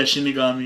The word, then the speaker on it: shinigami: Yeah, Shinigami.